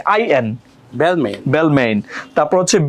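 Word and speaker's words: Balmain: এ জিগনা জিগনা বি এল এম এ এন বেলমেইন নো বি এল এম এ আই এন বেলমেইন বেলমেইন তারপর হচ্ছে বি এই এল ই এন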